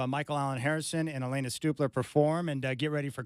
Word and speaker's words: Stupler: And right now, Michael Allen Harrison and Elena Stupler is in studio. And I was mispronouncing her name, but I got it.